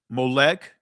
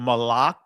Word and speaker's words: Moloch: Molech, right? Or Moloch, the proper ancient pronunciation of it.